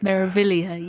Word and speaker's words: Meraviglia: Meraviglia, yes.